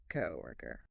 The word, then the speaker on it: coworker: Coworker. It sounds like coworker. 3 parts. Co, then were. Like W-O-R-K, but softer K, then co. Coworker. The stress is on the first part.